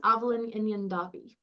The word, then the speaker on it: Aibhilin inghean Daibhidh: And today's very amazing presenter is, I'm so sorry if I mispronounce it, it's Aibhilin inghean Daibhidh. Was that okay? Close. Aibhilin inghean Daibhidh.